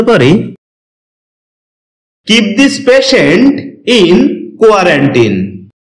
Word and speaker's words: quarantine: কোয়ারেন্টিন এটাকে আমরা কোয়ারেন্টাইন বলে থাকি। যার সঠিক উচ্চারণ হচ্ছে কোয়ারেন্টিন।